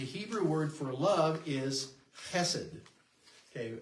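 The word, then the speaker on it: חסד: The Hebrew word for love is chesed. Okay, it's spelled H-E-S-E-D here. Oftentimes you'll see it C-H-E-S-E-D. It's in Hebrew, it's not just an H, it's more like a chesed sound.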